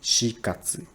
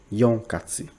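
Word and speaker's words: 四月: So when you say April in Japanese, you should pronounce like shikatsu, not yonkatsu. Don't say that.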